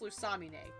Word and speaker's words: Lusamine: purpose because I'm sorry her name should be pronounced lamina when I when I watched the sun and moon anime and found out that her name was pronounced lusamine I was really annoyed because I'm sorry her